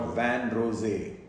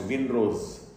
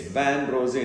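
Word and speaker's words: vin rosé: reddish color in the urine, what we call van rosé, often mispronounced Winrose. It's van rosé, it's French, which means pinkish wine, or actually a form of red wine.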